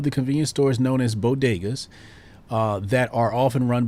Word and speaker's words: bodega: convenience stores known as bodegas uh that are often run by dominican or puerto rican merchants biden mispronounced the word as baghdas she didn't mispronounce the